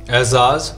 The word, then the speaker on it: एजाज: हाँ वो एजाज को बहुत लोग मिस प्रोनाउंस करते हैं, बोलना बेटे एजाज खान, एजाज होता है वो एजाज।